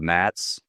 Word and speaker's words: NATS: Uh I wanted to highlight too the Henrik mentioned that the the backbone of the system is running on a technology called MATS that's spelled NATS and why that's important is this